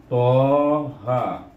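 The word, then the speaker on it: طه: Jadi cara membacanya to alif eja. Dulu kita dah belajar mengeja. Kalau bunyi to macam mana? To alif. Bunyi ha macam mana? Ha alif. Eh? Jadi bila kita baca Toha.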